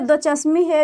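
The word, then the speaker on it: ھ: और ये बड़ी है, लेकिन इसे दो चश्मी है भी बोला जाता है, क्योंकि इसे ऐसे लिखा जाता है, ये एक ये दो, इसलिए इसका उच्चारण इसे ह पढ़ते हैं।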